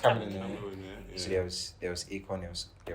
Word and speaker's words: Chamillionaire: Oh yeah, It's Chamillionaire. I think It's it's Chamillionaire.